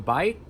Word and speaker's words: bi: So if you see BI in English and it means two, or it means life, like in biology, say bi, don't say B.